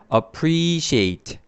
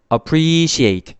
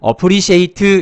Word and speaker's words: appreciate: 자, 여기 보니까 사전적 정의할 때 이렇게 점을 좀 찍었는데요 뒤에 있는 부분이 강조가 된다. 강세가 붙어 있다라는 겁니다.